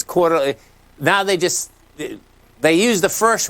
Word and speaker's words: Coeur d'Alene: No, it's Coir Mining. It's Coir, CDE. Oh. That's Coeur d'Alene, CDE. Yeah. Okay. We're pronouncing it differently, but this is the same stock. It's Coeur d'Alene.